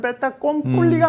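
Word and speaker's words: fait accompli: 사실 불어기 때문에 정확하게는 뺐다 꼼뿔리가 맞아요.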